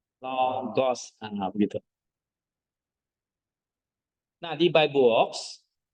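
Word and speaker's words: λόγος: Jadi bacanya logos.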